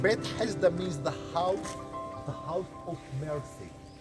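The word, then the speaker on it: Bethesda: Over here is called Bet Hesda. I know that it's very difficult to pronounce it. Only the Arabs and the Jews are allowed to do that. Bet Hesda means the house of mercy.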